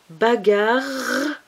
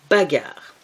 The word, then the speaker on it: bagarre: Bagarre à deux R. Et le E muet. Bagarre.